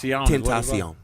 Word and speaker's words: XXXTentacion: Tentacion.